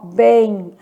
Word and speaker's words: bem: A palavra bem, ela é lida assim, ó, bem. Eu tenho 3 letras e 3 fonemas. Só que o que está acontecendo aqui é que a letra M, ela tem som de I, não é isso?